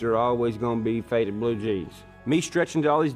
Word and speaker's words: Blue Gene's: Well, the name of the album is Blue Jeans, but jeans is spelled G-E-N-E apostrophe S, like your genealogy.